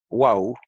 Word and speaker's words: Waw: Más específicamente el aspecto de cómo se pronuncia la letra hebrea Waw, que en hebreo moderno se llama Vav, pero en hebreo antiguo se llamaba Waw. Y en el hebreo yemenita de los judíos yemenitas todavía se llama wow y se pronuncia u. Entonces, como ha surgido cierto